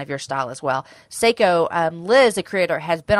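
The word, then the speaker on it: Sseko: you but it said but you say it like Seiko okay but Liz she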